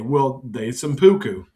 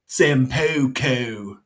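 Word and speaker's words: seppuku: They simpuku. Sampuku. That's how you say it.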